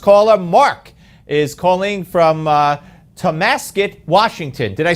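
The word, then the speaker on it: Tonasket: Mark is calling from Tomasket, Washington.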